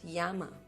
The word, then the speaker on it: llama: is it it's a llama in Spanish they pronounced Yama Ram it's RAM what is it is our